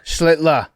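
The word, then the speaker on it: Schlittler: Schlitler.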